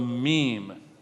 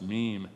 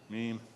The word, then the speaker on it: meme: his idea of the meme. That's the way it's pronounced, meme, not mem, meme.